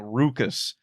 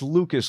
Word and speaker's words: Lucas: Lucas's name, and he keeps saying Rucus, and Lucas keeps saying, no, it's Lucas, Lou, and he can't get him to pronounce it right.